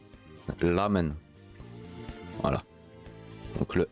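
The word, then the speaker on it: ラーメン: ramène mais en fait le r va plus se prononcé en L lamen voilà donc le r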